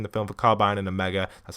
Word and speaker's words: Omega: They're advertising the film for Carbide and a mega.